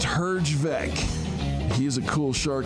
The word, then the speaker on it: Herjavec: It's pronounced Herjavec.